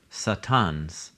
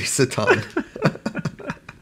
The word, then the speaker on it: satan: So there's a story in 1 Kings 11 where God raises up Satans against Solomon when he starts being unfaithful. The way that you're pronouncing that, it's throwing me off.